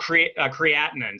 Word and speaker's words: creatinine: Is it called creatinine? How's that pronounced? It's called creatinine. So it's creatinine.